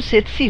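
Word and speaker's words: tsetse: উচ্চারণ সেতসি হলেও বানানটা গোলমেলে। ইংরেজি বানানটা হচ্ছে TSE সেতসি। আসলে এখানে এসে অবধি দেখছি বানান নিয়ে বড়ই গণ্ডগোল।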